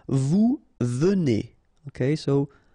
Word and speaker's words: venez: Vous venez. Okay, so Z at the end combine will give you the sound E, and here you've got venez.